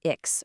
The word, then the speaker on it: X: X is Ix for xylophone.